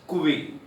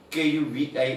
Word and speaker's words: covey: You have to pronounce it as Kuvi. Kuvi is the pronunciation, but the spelling is Covey.